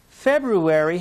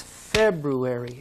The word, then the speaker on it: February: with me january good february has the same stress february it's on the first part of the word say february terrific job march one syllable